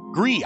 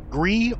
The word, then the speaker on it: GRIS: Gree. I think it is pronounced Gree.